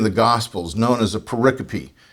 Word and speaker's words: pericope: gospels known as a pericope it's spelled just like Periscope without the s pericope and so they would